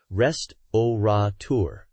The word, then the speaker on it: restaurateur: reflect the spelling right no adding an extra n Sound absolutely pronounce it as it's spelled rest oour anything else sounds well